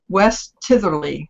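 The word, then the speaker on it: West Tytherley: And actually, my goal is to raise money and go to England in 2016 because I want to go to West Titherley is how you pronounce it, and that is where he is supposed to come from.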